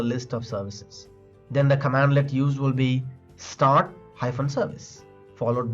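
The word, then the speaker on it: cmdlet: In PowerShell, commands are called as commandlets, pronounced as command-let.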